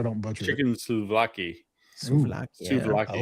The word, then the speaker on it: souvlaki: When I Googled this, when you said the word, how do you pronounce that to make sure I don't butcher chicken it? souvlaki.